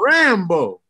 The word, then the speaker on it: Rambough: It's spelled RAMBOUGH. It don't even matter though. The sound. Oh, it's Louisiana. It's like French. Like sourdough. The sound of it though, Rambo.